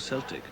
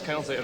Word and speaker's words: Celtic: laughed every time he um every time he pronounced the the thing as as Celtic rather than Celtic this was after this